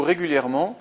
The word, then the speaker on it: régulièrement: Quatrième exemple, utilisez-vous régulièrement cette procédure. Régulièrement, on a une prononciation en aimant, donc un seul M.